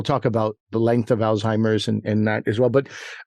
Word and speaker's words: Alzheimer: grandfather had Alzheimer's disease, Alzheimer's. I'm like, well, that's not quite the pronunciation. I don't think the German was the Z turns into a T. So I think some people confuse it about that.